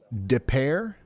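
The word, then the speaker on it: Des Peres: How do you say it? Depair. Depair. Okay.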